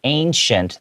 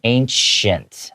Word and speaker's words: ancient: So ancient, that word, even though it has a C in the middle, it's pronounced more like a SH sound, ancient, okay?